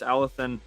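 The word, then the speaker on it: Alocén: Obviously, you can hear me talking with the Theo when we're saying Alethon's name. It sounds like I'm talking with a lisp, I know, but that's how they say it over there in Spain.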